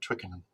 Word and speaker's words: Twickenham: Mary's in Twickenham, which I just love saying that word, Twickenham. Is that the right way to say it, by the way? It is.